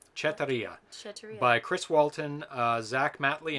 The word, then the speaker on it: Chetiry: Chetiry. It's a Russian name. Chetiry.